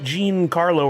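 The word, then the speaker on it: Gian Carlo Esposito: It's not Gian Jean Carlo or GM Carlo.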